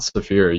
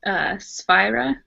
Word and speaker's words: Sphira: It's not Saphira. You said it somewhat. You said it different. It's Sphira. Sphira.